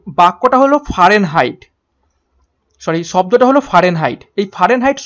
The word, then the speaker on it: Fahrenheit: তো প্রশ্ন নাম্বার 13 এর সঠিক উত্তর হয়ে যাবে অপশন এ, ফারেনহাইট। অ্যাকচুয়ালি উচ্চারণটা হবে ফারেনহাইট, FAHRENHEIT, ফারেনহাইট।